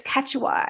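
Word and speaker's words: Quechua: It's Ketwa.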